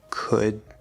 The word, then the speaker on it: could: And don't forget would, could, should. These are not L-colored, the L is just spelling.